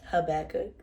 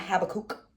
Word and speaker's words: Habakkuk: And yes, it's called Habakkuk. Habakkuk. That's how you say it. Not Habakkuk. Habakkuk.